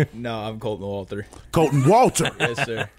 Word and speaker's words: Wolter: No, I'm Colton Wolter. Colton Wolter. Yes, sir. Walton. Okay. Walton. Walton. How do you spell that?